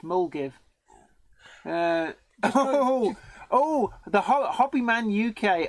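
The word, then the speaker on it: Milngavie: sire bond and Ian Ryan Milne Gavi is pronounced mul give oh the hoppy man UK oh good man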